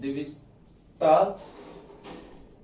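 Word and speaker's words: Dijkstra: Algorithm, इसमें जे और के आपका साइलेंट है। द्विस्तरा विधि, अब द्विस्तरा विधि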